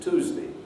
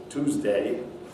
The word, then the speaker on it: Tuesday: syllables so tuesday june in american english one has the effect of yod dropping and this is the counterpart of the coalescence in british english so words like tuesday will be pronounced tuesday tuesday june my june will